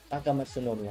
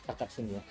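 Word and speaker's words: Takamatsunomiya: Okay, how to pronounce Takatsu no Miya. Takamatsu no Miya, not Takatsu Miya.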